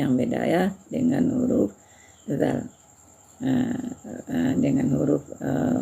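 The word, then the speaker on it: د: Nah, dal yaitu ya membacanya tidak seperti membaca bahasa Indonesia da dengan da da juga tekanannya ke lidah juga ya. Tapi tipis ya. Nah, da da da ya gitu caranya.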